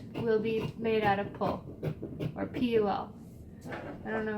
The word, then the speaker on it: PUL: The guy at the fabric store who owns the fabric store in our area calls it pull, so I've just been pulling at that.